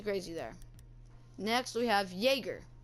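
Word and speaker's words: Jäger: Next, we have Yäger. Not Jagger, Yäger. It's just the way it's pronounced, as the little dots above the A pronounced.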